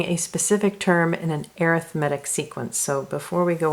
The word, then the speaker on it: arithmetic: spelled the same way as arithmetic but it's pronounced arithmetic alright so in an arithmetic sequence they follow